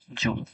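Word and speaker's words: joule: একইভাবে শক্তি শক্তি হচ্ছে জুল এটার উচ্চারণ হচ্ছে জুল আচ্ছা এটা হচ্ছে নিউটন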